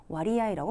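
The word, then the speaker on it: 割合: 와리아이라고 발음하십니다.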